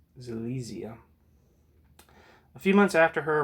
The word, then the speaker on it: Silesia: Alright, so now that I know how to pronounce that, it's Silesia.